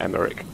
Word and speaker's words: Emmerich: The next mission will be to make contact with Emmerich. That's how you pronounce it, and he's all the way up there.